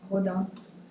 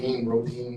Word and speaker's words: Rodin: Rodin. Okay, sing, yes. French pronunciation. Yeah, exactly. Rodin, one of those.